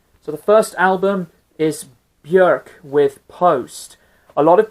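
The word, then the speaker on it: Björk: from town first so the first album is bjerk with post a lot of people have actually mispronounced her name they say bjork but according to some of the interviews she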